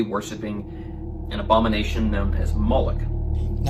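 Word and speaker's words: Moloch: The MLK is vocalized as Moolik or Moolok in the Maseretic texts, which is an authoritative text in rabbitic Judaism. It's from this pronunciation that we get the contemporary name Moolok.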